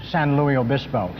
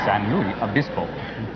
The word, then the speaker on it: San Luis Obispo: He's with his advisors learning to pronounce San Luis Obispo. San Luis Obispo.